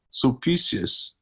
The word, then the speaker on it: Sulpicius: Sulpicius, right?